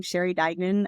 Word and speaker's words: Sheri Duignan: have a YouTube channel it's just my name Sher Dagan and that's Sher is it's spelled I think down here but s h